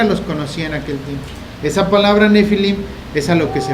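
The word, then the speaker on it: Nephilim: librero no tiene de una palabra que se pronuncia nefilim que significa gigante que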